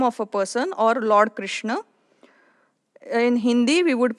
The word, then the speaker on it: Krishna: is a name of a person or Lord Krishna in Hindi we would pronounce this as K but in kokni this is K so the pronunciation would be Krishna and not Krishna Krishna now let's take examples